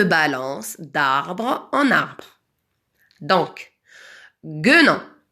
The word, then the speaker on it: guenon: Donc, guenon. Pourquoi j'ai rajouté un U? Parce que le son G se prononce je devant un E.